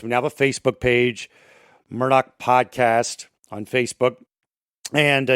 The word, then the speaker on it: Murdaugh: the last name is murdoch pronounced like murdoch not murdoch gh is silent no k sound also your main subject